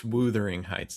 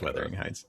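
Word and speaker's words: Wuthering Heights: It's not how you say it. I am not saying it's Weathering Heights.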